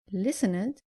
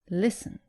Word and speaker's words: listened: And avoid saying listened, say listened.